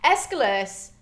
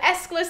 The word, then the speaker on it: Aeschylus: Aeschylus is actually pronounced one of two ways. So it's either Aeschylus the way that I'm saying it, or it's Aeschylus. Whichever way you decide to say it is completely fine.